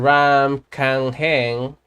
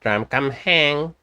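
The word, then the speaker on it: รามคำแหง: test and open up Mr Ram Kang hang that's how they pronounce it Ram Kam hang how that's how they pronounce it in Thailand I think it's for my friends they told me that's how it is anyway so we're going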